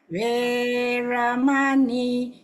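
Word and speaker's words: veramaṇī: Panatipata Veramani. Veramani. Because the E is long, remember we say E and O is long.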